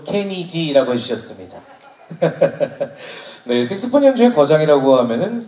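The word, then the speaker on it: Kenny G: 떠오르시나요 색소폰 연주의 거장이다 케니지 그렇죠 감사합니다 정확한 발음으로 케니지라고 해주셨습니다 색소폰 연주의 거장이라고 하면은 케니지를 모두가 또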